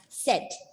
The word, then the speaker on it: said: He said, so it's not said. S-A-Y is pronounced as say, but when it is in the past tense form, it is pronounced as said.